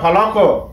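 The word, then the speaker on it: فلق: ওইখানে ওই সময় আমরা ফালাক উচ্চারণ করব, কেননা এ কফ উপরে জজম আছে। জজম যদি কফের উপরে যদি জজম থাকে তখন আমরা কলকলা করে উচ্চারণ করব।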